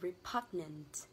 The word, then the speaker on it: repugnant: đó chính là từ repugnant. Cho âm rơi vào từ pug, đó là âm A ngắn. A ngắn là cái âm O xuống thế này.